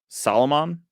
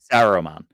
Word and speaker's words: Saruman: Okay, Now, I feel like the Dark Wizard is actually Solomon. I Saruman. feel Yeah, Saruman. I always feel yeah. like I say his name wrong.